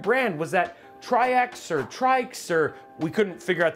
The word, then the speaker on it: TRYX: It's actually pronounced trikes as in like tri tricycle or trike.